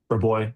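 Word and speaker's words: Rabois: Is it how do you say rep or boy? Re boy.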